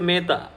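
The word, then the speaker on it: Mettā: I say Maitri, they will say Meta.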